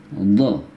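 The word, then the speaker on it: ض: Yang ini so, ini do. Ya. Sekali lagi, so, do. Ya. Lebih padat ya ketika pengucapan. So, ya, do.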